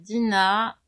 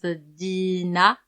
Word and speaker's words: Dina: Je m'appelle Dina et en général, en français, on le prononce Dina et en malgache, en fait, on le prononce Din.